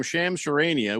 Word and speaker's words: Shams Charania: Roboto says the real reason for any sports news is to broadcast the name Shams Charania with no one really knowing how to say his name.